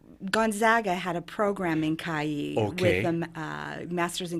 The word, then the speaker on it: Cagli: our Italian sister city, which is called Cagli. Okay. It's spelled C-A-G-L-I, Cagli.